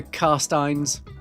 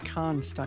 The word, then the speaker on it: Carstein: Should be very easy to pronounce for anyone who knows the Larmians, the Carmians, and the Carsteins. Is it Karnstein? No, it's Carstein. Carstein.